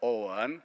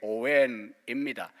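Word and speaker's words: Owen: 오원, 그거는 또 뭐 발음을 오원이라 이렇게 하는데 오웬입니다.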